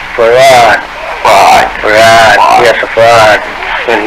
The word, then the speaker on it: Fard: Farrakhan, F-A-R-D F-A-R-D. Muhammad. Mr. Fard, did you say? Well, that would be the F-A-R-D? pronunciation in English, but we in the Arabic Yes, it's Farrad.